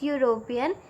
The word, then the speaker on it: European: So if we will pronounce European, then it is starting with the sound U.